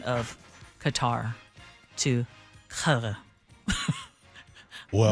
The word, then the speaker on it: Qatar: It's more guttural, Qatar.